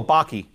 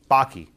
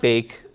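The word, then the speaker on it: Bakke: Oh, Baki. Baki. Like Bach, like the composer. E. Baki. Not bake.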